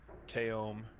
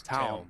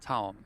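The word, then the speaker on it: Taom: Also want to give a huge thank you to Aramith, Teom, Simonis, Fort Worth Billiards.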